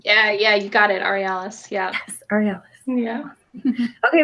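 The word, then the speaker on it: Aurealis: the ARELIS re Ellis award how do you pronounce that Emily yeah yeah you got it re Alice yeah oh yeah yeah okay we do have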